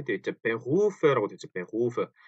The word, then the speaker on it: Beruf: 근데 사실은 Beruf인데 Beruf, 루 해서 목 안이 뭐랄까 떨리는 것 같은 Beruf 이런 소리가 이런 소리가 목 안에서 나는 소리입니다.